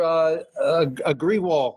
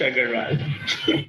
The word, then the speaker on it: Agarwal: you're Agriwal, right? That's the last name, Agriwal, right? Yes, it's pronounced Agarwal.